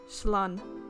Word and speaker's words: Slán: One dialect would pronounce it Slán.